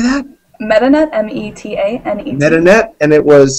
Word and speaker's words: Metanet: MetaNet, M-E-T-A-N-E-T.